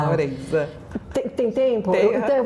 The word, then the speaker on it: Laurenza: O seu sobrenome, por exemplo, se pronuncia? Laurenza. Laurenza, olha. Laurenza. Laurenza.